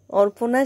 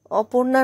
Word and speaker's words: অর্পনা: অর্পনা । অপূর্ণা বাবা তুমি তো খুব বিখ্যাত দেখছি মেয়েটি ডাক করে বলল তুমি ভুল বলছো কেন অপূর্ণা নয় অর্পনা আমার নাম অর্পনা অতটুকু মেয়ে কিন্তু খুব